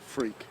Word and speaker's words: Freke: You pronounce it freak.